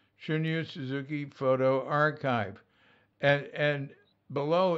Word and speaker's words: Shunryu: Don't say Shunryu, it's Shunryu.